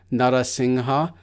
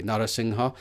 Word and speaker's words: Narasingha: So that's why I translate it in the first way, Narasingha, but both are pronounced the exact same way. So the second one is also Narasingha.